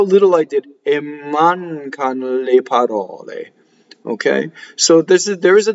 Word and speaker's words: parole: So the accent of parole is on the middle syllable, and you have to know whether it's open or closed.